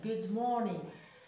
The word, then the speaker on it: good morning: good morning، بحيث أننا لا ننطق حرف R في اللغة الإنجليزية لأن بعده ماذا؟ consonant، حرف ساكن.